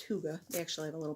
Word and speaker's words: hygge: of red hurt hygge even though it looks like Higgy it's pronounced hygge actually have a little